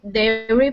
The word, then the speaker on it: dairy: So one's 2 syllables and one is 3 syllables. So diary has a long Oh, okay. I sound, and dairy has the long A sound.